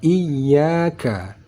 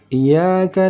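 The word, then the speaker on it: إِيَّاكَ: Di sini tulisannya iyyaka. Kesalahan yang kita dengar orang membacanya, ya ini tidak ditekankan di tasydidnya.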